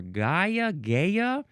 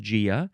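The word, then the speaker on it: Gaea: We have Gia. Now, maybe some people want to say Gia or Gaia, but it is officially pronounced Gia, spelled with a capital G-A-E-A.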